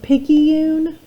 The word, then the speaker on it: picayune: Number 19 is pronounced picayune.